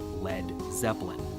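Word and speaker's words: Led Zeppelin: his band's new name he removed the a so it wouldn't be pronounced lead and that's where we got lead Zeppelin there is evidence the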